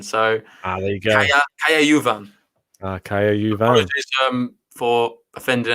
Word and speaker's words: Juvan: It's Juvan, the pronunciation here. Jan's saying it's Juvan, so there you go. Kaya Juvan.